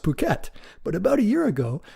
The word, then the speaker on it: Phuket: I think it's actually pronounced Phuket.